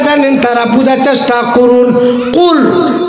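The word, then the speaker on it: قل: কুল যে কাপের মাথায় নক্তা আছে ওই কাপটাও এই কণ্ঠনালীতে উচ্চারণ হয় ক ক।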